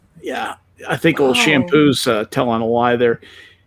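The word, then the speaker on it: Champoux: anyway block mp martin shampoo his real name that's an unfortunate name c-h-a-m-p-o-u-x that is pronounced shampoo even as a frenchman that's an unfortunate part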